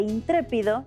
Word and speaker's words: intrépido: se tienen que acentuar es por eso que intrépido lleva acento en la letra e si desean leer más